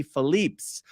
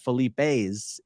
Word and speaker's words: Philippe's: the way down to Felipe's by the way the correct pronunciation in French might be Philippe's but the owners of the restaurant are not French and my understanding is